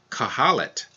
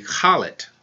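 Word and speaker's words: Khalid: Like you might say somebody's name is Kahalit, Kahalit, K-H-A-L-I-D. In Arabic, it would be Khalit, Khalit.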